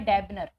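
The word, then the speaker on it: debonair: चलिए इस वर्ड का प्रोनाउंसिएशन यदि हम बात करें तो होता है डेबनर या डैबनेर बोल सकते हो।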